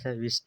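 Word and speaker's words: wrist: W silent है रिस्ट हो गया रैप हो जाए रैप रैप यानी कि लपेटना हो गया तो इसलिए यह साइलेंट होता है कब जब डब्ल्यू के साथ आए बात करें एक्स एक्स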